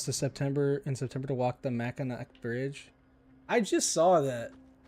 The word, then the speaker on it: Mackinac: Mackinac? Listen, why do they spell it like that if it's supposed to say Mackinac? You put a C there. You know how you pronounce a C?